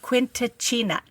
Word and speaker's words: Quindicina: Quindicina. Teatro Quindicina. Damn it. La Quindicina? Yeah, Quindicina. There's a D, no T. You're still saying the T.